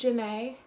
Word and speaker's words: Jenee: My middle name is Janae. It's spelled Jenee.